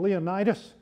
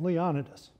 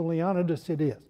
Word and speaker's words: Leonidas: even more pompous and useless than he was leonidas polk i used to call him leonidas but i have a friend who has a